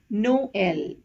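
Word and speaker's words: Noël: It is generally placed over the second of the two consecutive vowels to show that both the vowels have to be pronounced separately. Example, Noel.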